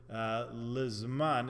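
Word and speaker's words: לִזְמַן: The Mishnah Berurah and others say that the correct pronunciation of the word lizman is with a chirik under the lamed, so it should be lizman hazeh.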